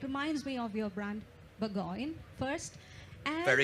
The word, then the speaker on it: Burgoyne: it uh it reminds me of your brand Burggoyne first and very good well pronounced.